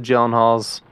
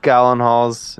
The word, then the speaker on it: Gyllenhaal: Darko um I mean the gyllenhaals the gallon Halls if you're my girlfriend that's how she pronounces it oh so she's wrong that's cool yeah uh